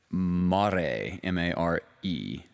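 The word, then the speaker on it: mare: water on the moon so the word m-a-r-e uh pronounced mar that just means see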